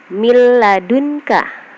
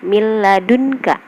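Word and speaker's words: من لدنك: Contohnya di sini miladunka, nun mati bertemu dengan lam. Jadi nunnya dibaca dileburkan tanpa didengung ya, miladunka.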